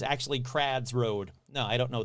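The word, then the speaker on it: Crwys: not how you probably pronounce it you probably pronounce it like crazies road come on kurt in in in wales w-y is called is pronounced ad so it's actually crads road no i don't know this [ __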